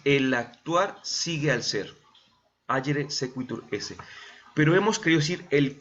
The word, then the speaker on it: agere sequitur esse: así como está aquí en la presentación, se pronuncia agere sequitur esse. Así desde hace muchos siglos, los filósofos, hablando sobre todo del ser humano, ¿verdad? Dicen agere sequitur esse.